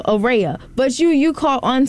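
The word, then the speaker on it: Araya: array of sunshine Heavenly it's spelled a r a y a so Ora but you you caught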